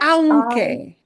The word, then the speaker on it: aunque: Uh, how do you pronounce the first word again? Aunque, aunque.